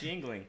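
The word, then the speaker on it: Yuengling: Don't let the U fool you. Yeah, It's pronounced Yingling.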